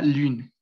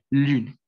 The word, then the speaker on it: lune: Entonces, es como que, digamos, ustedes hagan una U, o sea, al momento también de decir una U normal, pero se pronuncia muy, o sea, cierran la boca más, ¿sí?